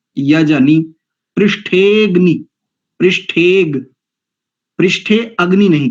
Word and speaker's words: यजनी: पृथिवी देव यजनी, नी को भी दीर्घ नहीं करेंगे। अधिकांश आचार्यों के मुख से भी उच्चारण मैंने सुना है, यहां पर नी में जो इकार है उसको दीर्घ उच्चारण करते हैं।